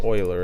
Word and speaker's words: Euler: Well, it's Euler, isn't it? That's how I'm supposed to be pronouncing this.